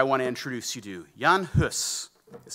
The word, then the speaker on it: Jan Hus: to introduce you to Jan hus is spelled h-u-s um it's it's Czech which is why it's not pronounced quite the way that we might expect but Jan Huss is born around 1370